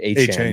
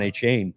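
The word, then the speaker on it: Achane: I think he pronounces his name A-Chan now. Yeah, A-Chan. I think that's how he said he pronounces his name. I've always called him Devon A-Chain.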